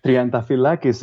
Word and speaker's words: Triantafyllakis: with people that I I don't care uh trianta fakis is the right way to pronounce it but uh please don't bother trianta